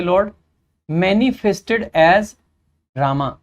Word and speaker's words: राम: देखो, the Lord, भगवान, कौन से लॉर्ड, मैनिफेस्टेड एज रामा, वैसे राम पढ़ेंगे हम इसको, रामा पढ़ते हैं इंग्लिश में, लेकिन हम राम पढ़ना हमें ज़्यादा अच्छा लगता है।